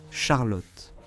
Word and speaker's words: Charlotte: En anglais, tu dirais Charlotte. Mais oui, c'est ainsi qu'on le prononce en allemand, Charlotte.